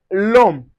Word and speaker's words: l'homme: The silent H acts like a vowel. This means liaison and elision are allowed. For instance, we have l'homme. L'homme, which means a demand. So, we say l'homme.